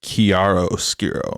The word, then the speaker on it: chiaroscuro: I could be wrong, but I believe it's chiaroscuro, or like said more elegantly than even I can pronounce it. Please correct me. I need all the help I can get, man. It's not like church.